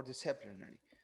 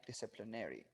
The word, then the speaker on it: disciplinary: And as I told you, it's pronounced as disciplinary. That's in or disciplinary. Okay, disciplinary. In American, disciplinary. In the British.